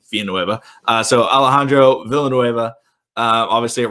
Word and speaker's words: Villanueva: I'm going to say Villanueva from now on. Y'all got mad at me for pronouncing it in the Spanish way. Double L is a Y in Spanish.